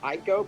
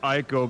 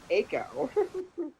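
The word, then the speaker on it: Eiko: movement foreign I honestly thought it was pronounced Ico because the letters e and I are the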